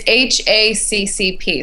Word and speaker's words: HACCP: how do you say is it HP it's hacp so it stands for hazard analysis critical control